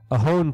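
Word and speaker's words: Ohlone: to do it the ohon people and you will notice if you look it up it's spelled o h l o n e but the l is silent and the reason for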